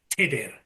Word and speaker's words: Tudur: So the Tudur is how the name should be spelt in Welsh, and it's pronounced Tudur.